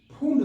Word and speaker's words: Pfund: और हम पांचवा आप लोग को बता रहे हैं फुंड श्रेणी, नंबर 5 है फुंड, PFUND, फुंड की स्पेलिंग बात को गलत दे देते हैं, फुंड सीरीज।